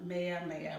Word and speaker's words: Meyer: is that how to pronounce Maya, or yeah. Yes, Mia.